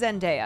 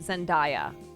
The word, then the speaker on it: Zendaya: Also, it is Zendaya, because I used to pronounce it Zendaya. And I got corrected like 3 years ago.